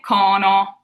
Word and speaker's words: cono: We say cono. So it stays more open.